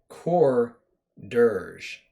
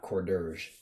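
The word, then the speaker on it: Coredirge: playset i think corders core dirge actually is how you would really pronounce that not cordurge it's not hors d'oeuvres um there's core and then durge which is you know like a funeral song a mournful song or whatever uh something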